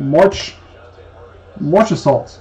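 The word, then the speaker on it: Marchessault: So we put in a March Assault. That's how you say it. March E. Salt out of 25.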